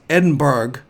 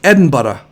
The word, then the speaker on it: Edinburgh: it's pronounced well it's edinburgh but it's pronounced like bread and butter i'm like oh i